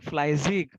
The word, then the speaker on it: fleißig: Okay, so this is what same, Fleizig. So asset IG, Fleizig. Ich bin faul und ich bin fleißig. arbeitet. EI is I. EI combination जब भी आता है तभी I करके pronounce करता है.